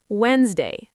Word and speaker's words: Wednesday: Wednesday, silent d silent gh, and a th sound at the beginning.